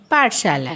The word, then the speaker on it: पाठशाला: यहाँ भी जहाँ जहाँ आ की मात्रा लगी है, उच्चारण लंबा हुआ है। जैसे प को आ की मात्रा पा, फिर ठ को कोई मात्रा नहीं है, फिर श को आ की मात्रा है तो शा, फिर ल को आ की मात्रा लगी हुई है तो ला।